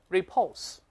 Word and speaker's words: repulse: 读一下，注意重音在第二个音节。那我们大声再读一下 repulse。